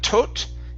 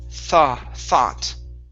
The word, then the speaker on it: thought: This word here is thought. Instead of tot, it's thought. Thought.